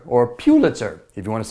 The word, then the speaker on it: Pulitzer: on the American end that would be Joseph Pulitzer or Pulitzer if you want to say it properly so